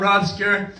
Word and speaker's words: Robscure: For those of you who don't know me, I'm Robscure. That's obscure with an R in front of it.